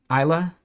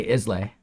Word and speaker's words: Islay: it isas I forget Isa I don't know how to pronounce it we'd be naive and just say islay that's incorrect Isa there you go o